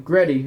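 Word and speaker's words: Grete: only one of them gets the name gretty rhymes with beta but even she is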